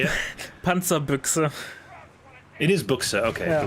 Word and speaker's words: Panzerbüchse: of the map against the M16 without the Panzerbuska. I'm never going to pronounce that right. It's Give fine. it to me one time in German. How do you say it? Panzerbüchse.